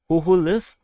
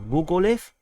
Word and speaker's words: Hoholiv: Um, there's reported battles at Hoholiv, Hoholiv or Gogoliv. Gogoliv is Russian or Hoholiv is Ukrainian, depending on how you want to pronounce it, and also at Bogdanivka.